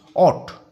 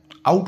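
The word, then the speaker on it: ought: ঠিক 9:30টায় আউট ওট এটা একচুয়ালি উচ্চারণ ও ইউএস টি অট বা তোমরা এটা আউট বলতে পারো হোয়েন হিট টু হ্যাভ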